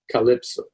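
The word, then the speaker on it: CLPSO: five letters for example the cl pso waypoint will be pronounced calypso the proposed flight procedures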